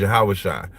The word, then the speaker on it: Yahushua: We pronounce his name in the Hebrew. Right. The Hebrew is Yahushua.